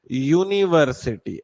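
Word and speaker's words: university: आप अगर इसका प्रोनाउंसिएशन देखें तो कैसे आता है, यूनिवर्सिटी ऐसे करके। तो जो पहला वाला जो टर्म है वो है य, वो आई में फंसेगा क्या, नहीं, इस वजह से क्या आएगा, अ।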